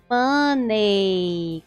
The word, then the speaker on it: money: Eu escuto muita gente falando money, com esse som de ei no final, mas na verdade a pronúncia mais aceita ou mais escutada é money, tá? Money. Então, nada de falar money, money.